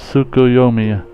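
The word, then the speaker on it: Tsukuyomi: looks Free People it's pronounced suu yomi correct I figure far EAS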